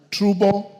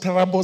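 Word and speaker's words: Turbo: Trubo sub-county, it's pronounced Tarabo sub-county, Paul Boyd Boys High School at 8 a.m.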